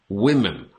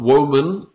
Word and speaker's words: women: Women, okay? So it's almost like a Y sound. Women. Women. Not woman. Okay? 1 woman, 2 women.